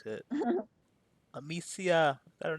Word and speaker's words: Amicia: Amicia.